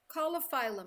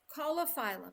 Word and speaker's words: Caulophyllum: Coliphylum, my friends.